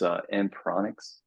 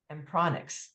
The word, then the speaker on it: Ampronix: It's Ampronix. Ampronix. There you go. Yeah. Okay, it's a short O.